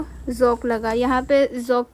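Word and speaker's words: ज़ौक़: बहादुर शाह जफर और जोक यहां पर याद करने के लिए तो आपको जोक लिख रखा है पर वैसे सही तलफ्फुज होगा जक जक भी दस्ताने दिली के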